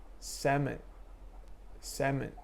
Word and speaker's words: salmon: pronounce the l right second word let's say 7 7 you don't say salmon you don't pronounce the l same thing third island